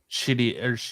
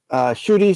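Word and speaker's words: Ncuti: Because you're still gonna have David Tennant as the 14th Doctor, and then Shooty or however you pronounce it is going to be 15th, right? Shitty. Yeah, Shooty got right.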